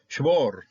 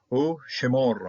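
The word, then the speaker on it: שְׁמֹר: Okay, and then shmor. Okay, this is an open syllable, and then so, and I never trust the Shabbat to close off a syllable.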